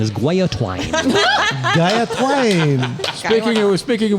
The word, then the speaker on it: guillotine: So there's no gilla. No. It's a gia. Never. Gia. Chris, it's it's not like a gilla monster. Gia. Yes, thank you. The correct pronunciation is guay-a-twine.